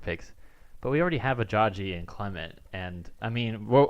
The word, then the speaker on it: Ajayi: Well, no, Because we just got Ajayi, so we're not going to get rid of him. First of all, it's pronounced. It's Ajayi. It's Ajayi.